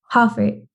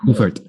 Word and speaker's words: Hoffart: It's Hoffart. Like basically take the A and turn it into an E. That's how it's pronounced. Hoffart.